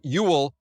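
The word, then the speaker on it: Whewell: There's a guy named Ewell. His name is spelled confusingly with more W's than it needs, but who first coins the term scientist.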